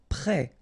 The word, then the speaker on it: prêt: Prêt, final T not pronounced, E accent circonflexe like that phonetically gives you the E sound, prêt.